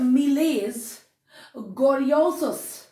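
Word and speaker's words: Miles Gloriosus: देखिए, ये जो प्ले इन्होंने लिखा था इसका प्रोनाउंसिएशन है मिलेज। ग्लोरियोसस, मिलेज ग्लोरियोसस, इसका जो प्रोनाउंसिएशन है मिलेज ग्लोरियोसस,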